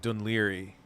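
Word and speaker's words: Dún Laoghaire: it's an Irish yeah no it said like dunleary racism is quite a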